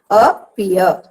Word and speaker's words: appear: The first syllable is not at all pronounced with force. The second is pronounced with force.